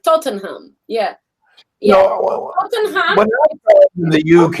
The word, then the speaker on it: Tottenham: are small yeah like tottenham a normal person foreign would say tottenham but it's tottenham yeah that's how they say tottenham uh i don't